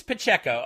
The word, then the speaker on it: Pacheco: from James, and he says, I pronounced his name wrong last time, so I'm going to do it right this time. Pacheco. James Pacheco.